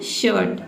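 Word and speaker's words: shirt: देखिए वर्ड देखते हैं शर्ट, ठीक है, शर्ट, SH का हो जाएगा श और IR को क्या पढ़ेंगे, और T का हो जाएगा ट, ठीक है, ये हो जाएगा आपका शर्ट।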